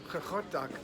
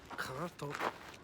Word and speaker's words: Qaqortoq: twice these days, but I remember Magnus pronouncing it almost as if he was like trying to say carrot, except with clearing his throat in the process.